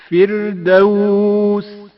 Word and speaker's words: فردوس: ساتھ پڑھا جائے گا۔ فردوس فردوس را سے پہلے زیر ہے، جس کی وجہ سے را باریک پڑھا جائے گا۔ فردوس فردوس الاربہ۔ حرف